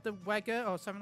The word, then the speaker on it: Wega: that I think it was like the Wega or something like that system that the TVs that The came Wega. out that Or Vega, as that they're pronounced.